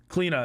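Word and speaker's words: Cliodhna: cleena our newest jungler so spelled like cleodonna or whatever cleena is how you say this god's name she's broken uh she's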